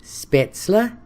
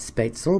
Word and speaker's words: Spaetzle: I'm gonna make German noodles which are properly pronounced spaetzle but I'm gonna call it Speights all because that's what we've always called it here's